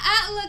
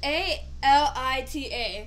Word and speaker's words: Alita: It's not Atla because it's A-L-I-T-A. What is it? Alita.